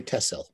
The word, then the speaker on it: Texel: largest of the islands it's called tessel it's spelled techcell with an x but the dutch say tesla learned very quickly and